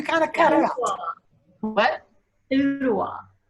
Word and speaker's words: Ooltewah: Ottawa. Ottawa. Can you spell it?